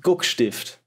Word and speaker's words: guckstift: Oh, it's German, so it's Erkberg and guckstift.